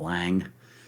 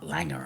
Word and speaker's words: Lange: to go with Mutt Lange, but, well, Mutt Langer, I think is actually the pronunciation, but I couldn't because he wouldn't get out of his smoking jacket.